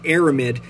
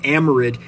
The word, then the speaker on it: aramid: lot longer and even though this material is pronounced aramid you may sometimes hear me refer to these blue belts as amorid and that's just me getting a little bit